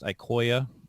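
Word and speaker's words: IQOYA: all today is that the ecoya line is pronounced ikoya and then there's crosslink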